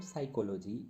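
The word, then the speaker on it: psychology: जैसे कि न्यूमोनिया में हम पी का प्रोनाउंसिएशन नहीं कर रहे हैं, साइकोलॉजी में हम पी का प्रोनाउंसिएशन नहीं कर रहे हैं।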